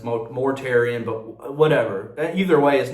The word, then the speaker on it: Mortarion: Maybe I heard a British guy pronounce his name, and then I kept going Mortarion when it's Mortarion, but whatever.